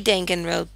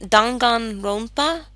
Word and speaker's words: Danganronpa: well as other videos I say dengan rope because that's what the voice in the game said pronounce it I looked it up actually dangan ronpa dangan ronpa actually means